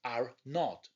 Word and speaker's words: R0: This is measured by its basic reproduction number, or R0, actually pronounced R0.